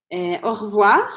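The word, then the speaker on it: au revoir: rir revoir E aí curiosidade também é que essa letra e ela praticamente desaparece da pronúncia E aí eu vou falar revoir Ok então eu vou cortar esse ess Então você vai usar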